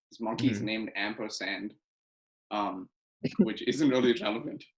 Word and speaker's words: Ampersand: Well, it's pronounced Ampersand. Yeah, yeah, but it's the sign for Yeah, and. but it's spelled ampersand, like the word.